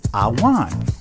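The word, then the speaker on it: עָוֹן: transgression of the law the hebrew word for iniquity is pronounced i wan which means to crook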